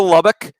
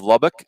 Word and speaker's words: Lubbock: So, gentlemen, let's go to Lubbock. And Kendall, I got criticized, Ravi and I, on Twitter for our pronunciation of Lubbock.